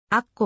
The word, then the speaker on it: アッコ: 地区にあるしあっこはヘブライ語での読み方であり英語ではあくれと呼称されるその他悪化あっ